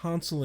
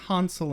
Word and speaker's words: Hansel: Or as they made a very clear point of pronouncing it, Hansel and Gretel. Even Xander was like, Hansel and Gretel? Why, yes, Xander, Hansel and Gretel. Not a single person at any point said Hansel, like the Midwestern tool bags we are.